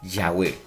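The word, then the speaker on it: Yahweh: acuerdo general de que la pronunciación original debe de haber sido que ya web porque porque sus significados se asocian más a la idea del ser o existencia los ebrardistas dicen que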